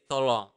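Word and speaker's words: tolong: want to say please you just say to long to Long th long it's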